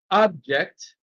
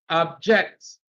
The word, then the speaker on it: object: So when it is used as a verb, stress is on the second syllable. When used as a noun, stress is on the first syllable.